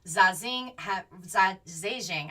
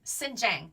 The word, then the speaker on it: Xinjiang: samples from residents in zazen zing i think i'm saying that correctly xinjiang xinjiang that's how you say it xinjiang region xinjiang has